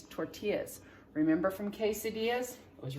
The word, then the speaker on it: tortillas: to say the word remember that that double-l makes the yuck sound it's not tortillas it's tortillas remember from quesadillas it